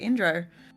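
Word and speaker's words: Indooroopilly: It turns out most of the people who are used to it just call it Indro.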